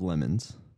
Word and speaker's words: LeMons: called the 24hour of lemons this is not us pronouncing lemon wrong Lem like lemonade uh the reason is because